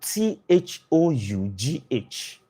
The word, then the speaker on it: though: that when you pronounce them is just one syllable. I used to give this example. T H O U G H T H O U G H.